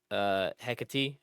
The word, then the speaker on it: Hecate: So the first time I beat it and beat Hecate, who's like your teacher. Is that how you say her name? That's how they say it in the game. I always said Hecate.